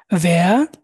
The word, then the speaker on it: wer: প্রথমটা ভাস, ওয়াস, was, ভান, ওয়ান, ভেয়া, wer, ভি, wie, wie, warum, warum, wo, wo, woher, woher, der, wohin। wohin, wohin, এই যে ডব্লিউটাকে আমরা ভি উচ্চারণ করতেছি, সবসময় ভি উচ্চারণ করবেন।